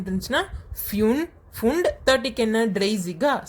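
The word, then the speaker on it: dreißig: இப்போ நம்ம அப்படியே 30க்கு வந்தோன்னு பார்த்தோம்னா ட்ரெய்சிக் அப்படின்னு பார்ப்போம். இது வந்து ஜி அப்படின்னு நம்ம ப்ரொனவுன்ஸ் பண்ணுவோம். ஓகேவா, ட்ரெய்சிக்.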